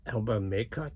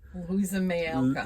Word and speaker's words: Louisa May Alcott: So right after that, we saw Little Women, and it's Elba Maycott. I mean, I butchered that. Louisa May Alcott.